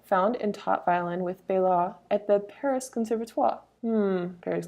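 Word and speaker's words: Baillot: It's spelled like bail lot, but it's French, so you cut off the end, so Bailot, I assume.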